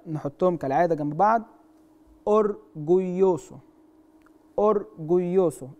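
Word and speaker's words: orgulloso: اورجويوسو ناخد بالنا من النطق بتاع الاو والاو، اورجويوسو الاو والاو.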